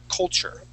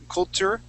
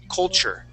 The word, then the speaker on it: culture: CH in it so instead of saying uh culture with a t uh we pronounce that with a CH culture culture try that please